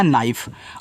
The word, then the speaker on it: knife: और फा, ए आपका यहाँ पे हो गया नाइफ, और नाइफ का मतलब होता है चाकू।